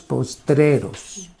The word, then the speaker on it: postreros: tiempos, estos son los postreros. Quiero corregir buenamente algunos hermanos que pronuncian la palabra postreros y dicen postreros, y no es postreros, postreros.